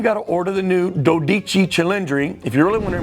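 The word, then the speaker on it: Dodici Cilindri: And you got to order the new Dodichi Chilendry if you really want to impress the uh the sales manager and the general manager there. Pronounce it correctly. Dodichi Chundry. Don't call it a 12cylindry.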